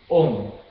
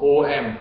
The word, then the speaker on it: Om: If you pronounce Om, okay, notice people normally will say Om, O-M, Om. Okay? Actually, Om is not proper, it's Om, O-O-N-G, Om.